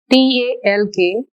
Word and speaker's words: talk: the red mark letters t a l k we won't pronounce l it is only talk here in this next word